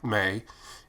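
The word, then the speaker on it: Mei: The author's name is M-E-I, May, and then her name is M-A-T-S-U-O-K-A. So I phonetically broke that out so that I could say it correctly in my voiceover.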